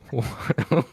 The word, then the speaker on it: Joseph: And then the fourth one is spelled like Joseph, but it's pronounced Watto.